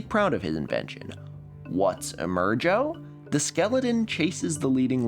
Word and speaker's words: Emergo: The gimmick is called Emergo. Interviewed on TV, Castle insists on the proper pronunciation, rhyming with the name Joe. He's proud of his invention. What's Emergo?